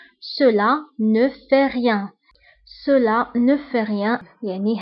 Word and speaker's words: cela ne fait rien: هنا أيضا لا لتر تي ما نطقناهاش. Cela ne fait rien.